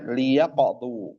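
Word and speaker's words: ليقضوا: Gimana bacanya? Liyaqdu, karena dia lam amr.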